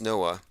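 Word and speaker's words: NOAA: oceanic and atmospheric administration noah it's actually pronounced noah that their main symbol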